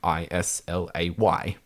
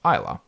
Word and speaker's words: Islay: Islay in particular is Islay is actually spelled Islay, but it's pronounced Islay.